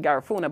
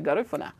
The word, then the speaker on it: Garifuna: that g the people most people pronounce it garuna but I say garifuna or garif um so